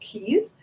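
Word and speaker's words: Cayes: C A ye s they differ but it's still pronounced keys they have a lot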